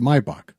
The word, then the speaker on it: Maybach: It's pronounced when you're in Germany, we pronounce it Maybach, but people call it Maybback.